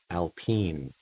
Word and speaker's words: Alpine: alpine a110 alpine a110 i have to say it right alpene looks like alpine to me i know